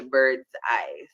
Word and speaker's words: Birdz-I: until we get to Bird's-I. So it's spelled Birdz and then the letter I though.